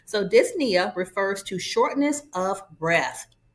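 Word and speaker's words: dyspnea: So, dys means difficulty and then the p is silent. Nia refers to breathing. So, disia refers to shortness of breath.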